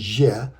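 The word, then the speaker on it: Ж: However, it is pronounced as je.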